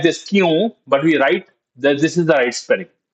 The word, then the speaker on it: क्यों: Kyun. Now, kyun is another word which is written as kyon. We write it as kyon, but pronounce it as kyun.